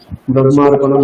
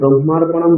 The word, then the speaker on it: ব্রহ্মার্পণম: এটা অনেক সম্প্রদায় ভেদে অনেক রকম উচ্চারণ করা হয়। আমি দেখেছি অনেক সাউথের মহারাজরা, আমরা ব্রহ্মা এখানে আগে হ তারপরে ম আছে, কিন্তু ওনারা আগে মকার তারপরে হকার বলেন, ব্রহ্ম এটা বলেন, ঠিক আছে?